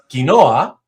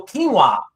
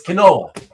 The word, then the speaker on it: quinoa: Not trying to be a smart-ass, but it is Spanish. So, it is therefore in Spanish pronounced quinoa. Right? It's three syllables.